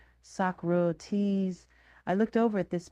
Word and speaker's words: Socrates: I had read Socrates, but I had never pronounced his name, so I said Socrates, because that's the way I had always assumed it was pronounced. There was a moment's silence before I heard someone whisper, Socrates.